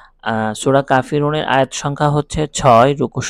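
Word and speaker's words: الْكَافِرُونَ: আমরা আওয়াজ না বলে আমরা শুধু বানানটা বলবো উচ্চারণটা বলবো কা ফি রুনা কুল ইয়া আইয়ুহাল কাফিরুনা এ হচ্ছে মূল আয়াত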